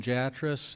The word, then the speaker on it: Jatras: My name is Jatras. It rhymes with mattress, but it's not spelled that way.